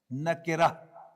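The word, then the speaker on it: نكرة: This is ma'rafatun, to pronounce as ma'rafa, and this is nakiratun, to be pronounced as nakira.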